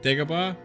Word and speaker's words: Dagobah: Midway, Naboo, Dagobah, Bespin, or Poopski? The correct pronunciation is yes, Dagobah, the Dagobah system.